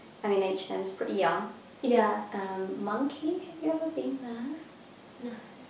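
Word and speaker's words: Monki: Monkey, have you ever been there? No. You love it. Monkey? Yeah, it's spelled M-O-N-K-I.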